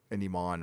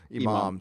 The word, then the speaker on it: Imam: They'll probably have him talking to, an Iman or Imam. Is that how you say it? Iman or Imam? Imam.